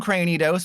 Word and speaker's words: Cranidos: As long as I didn't prize 2 Cranidos, we'll be fine. And again, I've said this before, that is how you pronounce it, because it's like cranium. It's not Cranidos like a granny.